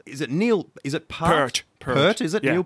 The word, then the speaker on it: Peart: Is it Pert? Pert, is it? Yeah. Neil Peart? Though that's hotly contested exactly how you pronounce that, but I'm pretty certain it's Neil Peart.